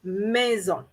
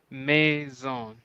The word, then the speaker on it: maison: the house in french we're going to say maison may zone exactly so now we know